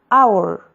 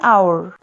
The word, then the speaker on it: hour: Yenisei it begins with an age this age is silent so the beginning sound is a hour if an hour the yak admit honest and I mean he's